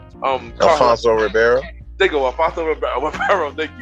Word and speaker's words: Alfonso Ribeiro: Alfonso Ribeiro.